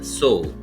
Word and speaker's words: sow: Out of our eight new words, the second word is so. Spelling is s o w. How we have to pronounce this word?